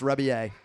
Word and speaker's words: Rebillet: The last name is Rebillet. It looks like Rebillet. It's pronounced Rebillet.